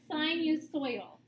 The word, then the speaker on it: sinusoidal: So S-I-N we pronounce as sinusoidal. So O-I has that oi sound.